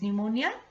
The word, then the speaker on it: pneumonia: became ill with pneumonia now children p is silent your here so what is pneumonia it is a lung